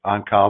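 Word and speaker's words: Oncale: This is virtually a direct quote from the on-call case, on-call or on-collie. There are different versions of the pronunciation of that.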